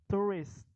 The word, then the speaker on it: tourist: Tapi ujungnya tuh ada T-nya kan. Jadi bacanya itu juga ujungnya enggak S. Kalau bahasa Indonesia turis S kan ujungnya. Tapi kalau bahasa Inggris tourist. Jadi terhenti oleh huruf T.